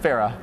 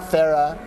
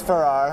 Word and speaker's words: Farrar: in Boulder Colorado with Tyler Farah got your pronunciation right almost let's hear it Farah Farah for all the people always think it's Farrar understandably but the RS is silent Tyler thanks